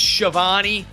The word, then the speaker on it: Schiavone: And by the way, I know it's pronounced Shivani.